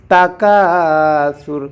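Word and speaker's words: تكاثر: মিম তা পেশ মুত তাকাসুর কাকে প্যান হবে জবরের বাম পাশে খালি আলিফ ভাষার কারণে সাটা জিহ্বার আগা থেকে নরম করে উচ্চারণ করতে হবে তাকাসুর আলহাকুমত্তাকাসুর আয়াতের শেষে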